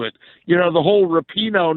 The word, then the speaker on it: Rapinoe: you know the whole Rapinoe not playing thing and it's Rapinoe Billy Schwein if you're listening Megan Rapinoe rah peen oh he said that he